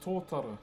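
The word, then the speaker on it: tōtara: But this timber is to t o t a r a one of the softest native timbers we have.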